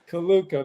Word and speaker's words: Culuko: But yeah, they would pronounce it probably Culuko or something like that. The accent's on the first syllable, right? Culuko then.